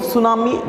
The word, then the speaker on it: tsunami: It's completely silent. It is a silent T. So if you are thinking that if you are reading T tsunami, it is wrong. You have to make the T silent when you pronounce it, but when you are writing you need to compulsory add the T there.